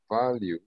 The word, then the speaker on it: value: What value do you bring to the company? Value. Sí. La E no se pronuncia.